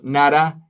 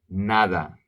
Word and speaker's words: nada: silent nada nothing no NADA the D is a real D NADA NADA and then there